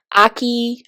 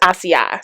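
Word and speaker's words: açaí: But this deep conditioner really reminds me, I don't know if y'all know of the Aki, I say Aki, but I think it's ACI. Siri said it's pronounced ACI, but it's ACAI berry line.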